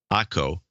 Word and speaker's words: Ako: Today is the 27th anniversary of marriage with my smoking hot wife, Ako, pronounced like taco.